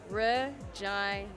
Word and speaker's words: Regina: Regina. That's Regina. That's Regina. Okay. And that is perfectly fine. Not Regina. No, not Regina. I've tried to say Regina.